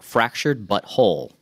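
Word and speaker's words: The Fractured But Whole: The new South Park RPG from Ubisoft and South Park Studios as well worked together on this game called South Park Fractured But Whole. I pronounced that correctly.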